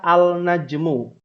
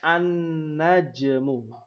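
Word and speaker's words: النجم: bawah kotak halaman 16 ketika ditambahkan alif lam tidak dibaca Al najmu tapi dibacanya annajmu otomatis kemasukan tasydid nun-nya karena Nun itu adalah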